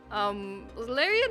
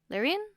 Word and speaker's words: Larian: Wait, how do you say Larian? Larian? Larian. Oh. Okay. Larian.